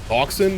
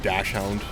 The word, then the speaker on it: dachshund: Dachshund. Is that how that's pronounced? I almost said dashhound. I know that's wrong.